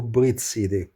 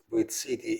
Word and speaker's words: Brit-Cit: That being said, let's take a look to Brit city, which name isn't Brit city. It's actually Brit city with a t pronounced like city, but I will probably pronounce